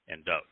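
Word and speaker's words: דוד: There's no V in Hebrew, and there's no justification for the I, but nonetheless, David. And the Wa is pronounced as either an O or the U sound, and so there's no Da in Dod.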